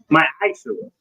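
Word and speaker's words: מַעֲשֵׂר: Means 10th in the Hebrew, and it's pronounced ma'aseh.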